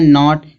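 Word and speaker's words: knot: आगे यहाँ दिया है नॉट। कुछ लोग इसको कनॉट पढ़ते हैं। अब कनॉट तो नहीं पढ़ा जाएगा।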